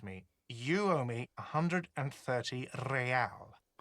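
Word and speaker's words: réal: You owe me 130 realale. He pronounces the R with a mock aristocratic accent.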